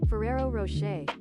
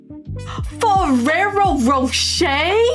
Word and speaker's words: Ferrero Rocher: Ferrero Rocher. Ferrero Rocher?